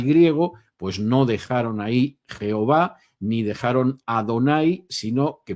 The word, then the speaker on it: Jehová: aunque no el único, es Jehová, o si se prefiere la pronunciación hebrea Yehovah, o tal y como vocalizan otras personas el tetragramaton, las cuatro letras del nombre Jehová, Yahveh.